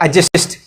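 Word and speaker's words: adjust: तो ए यहाँ पे क्या है, ए और जे के बीच में कभी भी डी आए तो उसको साइलेंट पढ़ते हैं, हमको आपने पहले ही बता दिया। ठीक है, तो डी शब्द यहाँ पे साइलेंट हो जाएगा, तो क्या हो जाएगा, एडजस्ट हो जाएगा।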